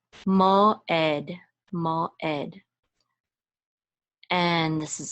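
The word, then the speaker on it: מוֹעֵד: The ayin is silent, so we're just going to say tzere, which is e, and this is a dalid, which says da. So ed, mo ed, mo ed.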